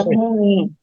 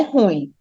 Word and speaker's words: ruim: ruim certo a palavra ruim Tem gente que fala ruim não é ruim é ruim são duas sílabas tá ruim não não